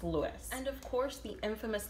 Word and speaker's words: Luis: is also named louise it's spelled l-u-i-s and i don't know how to say is it louise lewis i don't know it's lewis and of course the